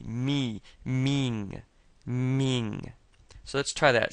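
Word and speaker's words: 名: And saying ming is kind of like saying the word meet.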